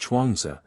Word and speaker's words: Chuang Tzu: The historian Sima Chen, whom I have already quoted, gives an account of Chuang Tzu, pronounced Chuangzi, who was born in the province of Anhui.